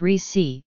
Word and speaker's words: Recy: Abbeville in southeastern Alabama recce pronounced Ricci Corbett found herself caring for six younger siblings after their mother died when she was 17 .